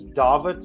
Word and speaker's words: Dawid: the United States it's davit so it's David with a W like in Washington but pronounced with the V like in Virginia got usually that's The